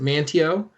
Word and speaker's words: Manteo: i was like it looks like like uh manteo is like because like i've we live worked in quincy for so long but they pronounce it manteo and i'm like oh there you go you